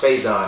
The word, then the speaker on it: Faizon: He's like, "Oh, our last name is it's pronounced Faizon." And my mom's like, "I've been around for like 45 years. I'm pretty sure I know how to say my last name."